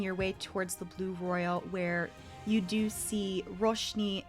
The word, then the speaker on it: Roil: everyone in the audience royal is spelled r-o-i-l not like a royal flush like the roiling of water or the sea and it is a